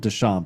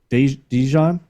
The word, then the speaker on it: DeJean: I've been calling him Deshaun, but it's Dijon, because I believe it's spelled just like Deshaun Jackson's name.